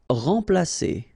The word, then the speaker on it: remplacer: Remplacer. So M together, and after that you've got a consonant, so it will be like a nasal, so like en.